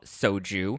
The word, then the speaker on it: Xoju: So over the weekend, I attended a fun launch party for this new soju brand, which is actually called soju, but it's spelled Xoju.